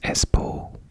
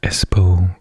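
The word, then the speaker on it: Espoo: finland video is espo i think this was pronounced i think in the video i hadn't done any finnish and i think i pronounced it as poo um but it's e-s-p-o-o which i think is s-po and we're going to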